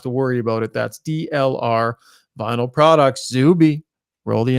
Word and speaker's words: DLR: Just say it. DLR Vinyl Product. It's not DLY. I know it. I still like DLY.